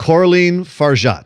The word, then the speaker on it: Coralie Fargeat: Can you please pronounce her name correctly for me? Because I'm going to screw it up. Coralie Fargeat.